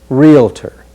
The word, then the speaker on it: realtor: on is realtor again be careful not to let an extra vowel creep in after real just realtor the next word we'll